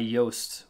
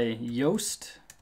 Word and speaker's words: Yoast: We're going to search by Yoast. It's spelled like toast, only with a Y at the beginning.